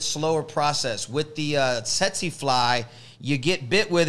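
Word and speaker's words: tsetse: the set seek fly you sold setsi now that's spelled t-s-e-t-s-e tetsy and they ain't sexy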